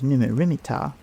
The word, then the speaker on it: Neb-Mat-Ra-Mer-Ptah: Another possibility is that it represents Amenhotep III, Neb-Mat-Ra-Mer-Ptah, pronounced as Numu-Rimi-Ptah, which may be shortened to Neb-Mer-Ptah or Mer-Neb-Ptah.